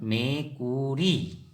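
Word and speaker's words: মেকুৰী: बिल्ली को हम असमिया में मेकुरी कहते हैं। क्या कहेंगे? मेकुरी। इसका उच्चारण मेकुरी।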